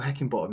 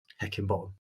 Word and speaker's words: Heckingbottom: Heckingbottom. 4 syllables, and to have it as Heckingbottom. Yeah, it's like Higginbottom.